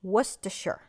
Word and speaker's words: Worcestershire: of Worcestershire sauce, and the correct pronunciation is Worcestershire, 1 tablespoon of low sodium soy sauce, and Baby Ray's sweet teriyaki sauce.